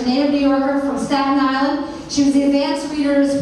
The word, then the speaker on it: Staten Island: That's one word, Staten Island, if you want to pronounce it correctly.